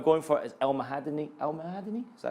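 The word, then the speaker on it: El Mohamady: El Mahadani?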